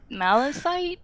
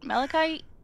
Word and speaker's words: malachite: but that's fine and the melon malecite malachite yeah malachite malachite is a copper material